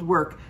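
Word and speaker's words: werk: is in the uh the name is called work but it's spelled w-e-r-k oh and if you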